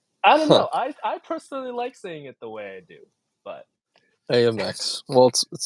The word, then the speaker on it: Amex: don't know I butt Amex well I think it's more syllables the way you say it AMX AMX Amex AMX you're right yeah you got an extra Soul I'm wasting I'm wasting